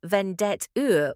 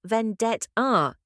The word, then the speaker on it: vendetta: Don't say vendet-er with a hard American T. The correct pronunciation is vendet-ah. It's Italian, so the final A should be open.